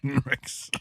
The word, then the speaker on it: Henriksen: Henriksen.